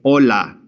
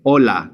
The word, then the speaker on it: hola: we would simply say hola. We don't pronounce the H whatsoever. So we just simply say hola.